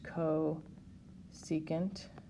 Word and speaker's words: cosecant: okay and i'm also going to write out these words this is pronounced co secant this is pronounced secant and this is cotangent